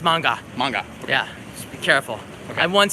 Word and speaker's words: manga: for pronouncing it right it's not man guy it's manga manga yeah be careful I've